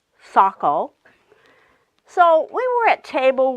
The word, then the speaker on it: Saco: of Wistar she might have said say coal instead of Saco so we were at